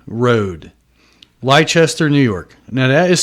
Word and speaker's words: Leicester: 201 Dix Creek 1 Road, Leicester, New York. Now that is spelled L as in lips, lip licks.